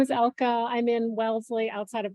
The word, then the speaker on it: Elke: ELKE, how do I pronounce that name? Okay, go ahead. Can you hear me? Okay. Yes. My name is Elka.